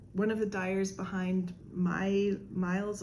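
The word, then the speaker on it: Mailles: I met one of the dyers behind Miles Apart. It's spelled M-A-I-L-L-E-S, which is French for stitch.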